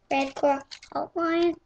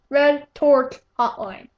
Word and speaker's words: Red Torque Hotline: Red Core Hotline and you said it wrong. Red Torque Hotline.